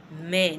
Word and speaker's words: main: Man.